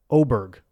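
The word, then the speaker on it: Åberg: full swing on Netflix he said it's oberg have you been saying oberg cuz I haven't I swear he says ludig oberg oberg are you sure and I've been saying a bear he says oberg that's how he pronounces his name well then there it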